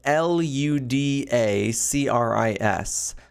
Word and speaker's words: Ludacris: It is spelled Ludacris, like Ludacris, the rapper.